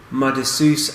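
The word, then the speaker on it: Maredsous: How do you pronounce that? Maredsus?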